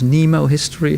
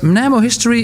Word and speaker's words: Mnemohistory: It's very important to pronounce it correctly, not as Nemo history, because that's... But Mnemohistory is something fundamentally different from how people normally perceive historical processes to work.